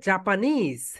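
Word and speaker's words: Japanese: দেখো, আমরা এখানে জাপানিজ, এটা রাইট প্রোনাউন্সিয়েশন কি বলতো? জাপানিজ, নিজ, এখানে গিয়ে স্ট্রেস দিতে হবে।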